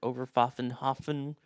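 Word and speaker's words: Oberpfaffenhofen: controlled from Overpfaffen, I believe is how it's pronounced, or Overpfaffenhofen in Germany, the German operations center, controlling all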